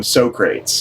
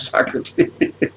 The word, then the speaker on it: Socrates: And they they call them Sorrates because they don't know how to pronounce Socrates. Sorrates. So yeah, that's part of the movie is they go back in time to to kidnap Socrates.